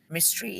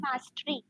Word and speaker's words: mastery: dedicated years to attain mystery in their fields which includes staying away for personal relations including it's Mastery Mastery not mystery mystery is something which is